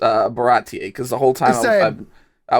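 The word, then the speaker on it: Baratie: old when I when I realized that it's pronounced uh baratti cuz the whole time I was calling it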